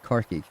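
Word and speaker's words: Corcaigh: Irish, Cork is Carkig. Tommy and Coney e Carkig. Oh, yeah, Carkig. I didn't think it was spelled like that.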